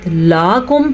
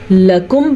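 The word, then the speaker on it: لكم: گے، میم زبر الف، ما الف کی وجہ سے، لکم، پھر وہی بات، لاکم پڑھا تو معنی کچھ اور ہو جائے گا، لکم پڑھا تو اس کا معنی ٹھیک رہے گا.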